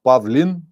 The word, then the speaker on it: Pavlin: I'm not Pavle. I am Pavlin.